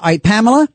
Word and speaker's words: Pamela: I I always say three syllables because sometimes on the radio or phone, they can't hear my name and they end up calling me Ham or Pat.